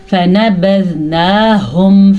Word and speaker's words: فَنَبَذْنَاهُمْ: فَنَبَذْنَاهُمْ فِي الْيَمِّ، پھر سے ہا کے تلفظ کا آپ نے دھیان رکھنا ہے اور فا کو، نون کو، با کو لمبا نہیں کرنا کیونکہ ان کے اوپر صرف اور صرف بڑی زبر ہے نہ کہ کھڑی زبر ہے.